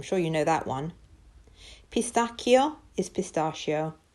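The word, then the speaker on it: pistacchio: you know that one Pastakia is pistachio CH is pronounced like a k' in Italian stracciatella is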